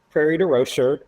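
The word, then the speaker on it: Prairie du Rocher: And this is um prairie de roer which is the Illinois pronunciation of this French name outside French Geneva you know and I um I grew up in St.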